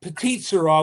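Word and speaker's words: Petite Sirah: Is that how you pronounce it? I'm Irish, so I'm gonna It's Petit Shira, which is a Shira.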